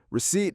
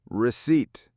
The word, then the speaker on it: receipt: Receipt has two syllables. We stress the second one. The P is silent. Ignore the P. Receipt.